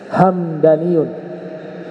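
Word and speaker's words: همداني: bacaan itu Hamdani ada hamadani ada hamadani kalau Hamdani nama suku dalam kitab lisanul Arab Ibnu manzur mengatakan hamdaniyun goobilah Minal Yaman hamdaniyun itu satu suku yang ada di Yaman dibacanya mimnya sukun hamdaniyun Al Imam Nawawi di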